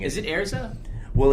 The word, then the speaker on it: Erza: i'm so used to like saying is it airza well it's ariza in the in the way that they pronounce it in japanese it's heirs up and